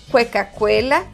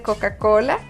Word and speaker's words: Coca-Cola: He escuchado personas decir cosas tan divertidas como cuecacuela en lugar de Coca-Cola o decir fueto en lugar de foto.